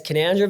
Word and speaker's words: Canowindra: Yeah, it's Canandra, but it's it's spelled Kennawindra, but it's pronounced Canandra.